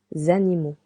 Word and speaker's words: animaux: Animals, les animaux. You can hear letter X is silent. Letter A and U together sounds anima.